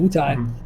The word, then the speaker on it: Wutai: There you go, Wutai.